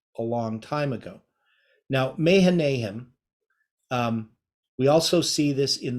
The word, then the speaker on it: Mahanaim: Now, Mahanaim, we also see this in the Song of Solomon. Right, so this is this word Mechanaim. It's how it would be pronounced.